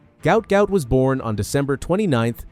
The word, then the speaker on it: Gout Gout: His name, pronounced to rhyme with pout, was misspelled during his family's transliteration from Arabic. The world still knows him as Gout Gout.